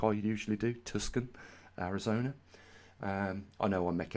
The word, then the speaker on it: Tucson: Another one went out to Tucson, I believe that's how you pronounce it, not like I usually do, Tucson, Arizona.